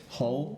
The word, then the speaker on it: Hull: say the town hle Hull Hull like the hull of a ship okay the Hall of